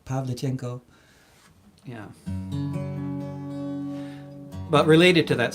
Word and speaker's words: Pavlichenko: the agenda actually I first learning how to pronounce her name Pavlichenko yeah but related to that subject here's a